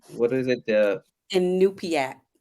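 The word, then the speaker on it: Iñupiaq: what is it, the Inupiaq. It's Inupiaq. spelled Inupiat. There you go. That helps. It does not, but Inupiaq.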